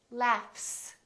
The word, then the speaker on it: laughs: give you another example the word laugh this GH is actually an F sound right f f f there's no vibration in my vocal cords so the f is actually a voiceless sound so that means the s that follows it will also be voiceless and we will say laughs laugh FS look at this word